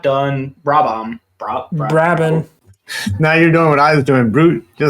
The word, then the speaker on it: Brabham: The H is silent. Brabham.